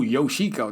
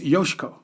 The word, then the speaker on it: Yoshiko: but she would say you don't do these syllables like there's no yoshiko that is not my name it's yoshiko it's really quick it's really fast and